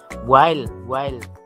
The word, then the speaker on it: while: While bukan will.